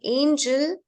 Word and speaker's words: angel: angle and angel angel yes G in the word Angel there is soft soft G rule but in the word angle it's not there okay so whenever you have l e whenever you have l e g will be with n okay a okay angle but when you have e l then e goes with G to make it soft and it becomes Angel okay now in many words